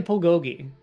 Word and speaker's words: bulgogi: It's actually bulgogi. in Korea, because it's all pronounced with a P. When you see a B, it's pronounced as a P.